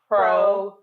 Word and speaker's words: profligacy: Say it with me. Profligacy. No, not duh. There's no D. I didn't say duh. I said profligacy.